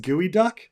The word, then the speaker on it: geoduck: uh I wondered if geoduck pronounced gooey duck is that actually like